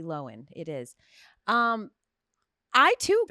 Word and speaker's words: Lohan: uh popular with and Lindsay loen not Lohan it's not Lindsay lowan it's Lindsay loen it is um I